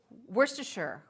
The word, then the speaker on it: Worcestershire: But this is also Worcestershire, right? Worcestershire, yeah.